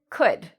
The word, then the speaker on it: could: It's the same with could.